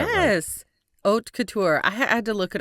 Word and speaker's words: Haute Couture: Yes, Oat Couture.